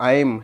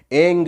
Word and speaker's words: ऐं: यानी कि कुछ लोग इसको ऐम यानी कि माँ का साउंड बोलते हैं, ठीक है। कुछ लोग एंग बोलते हैं यानी कि अंगा का साउंड लगाते हैं, तो दोनों ही सही है।